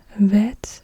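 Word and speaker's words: בֵית: So Aleph is a glottal stop, Bet is a B sound, and Vet is a V sound.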